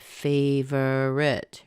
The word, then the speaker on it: favorite: So you take a look at favorite, right? Well, this O in here is generally not pronounced.